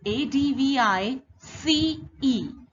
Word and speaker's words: advice: their spelling their spelling is different advice is a d v i c e an advise is a d we i s